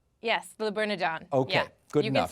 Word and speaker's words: Le Bernardin: Yes, Le Bernardin.